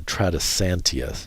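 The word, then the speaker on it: Tradescantia: Uh, purple heart is a trisantia species. U genera. Uh, it's spelled T R A D S C A N T I A.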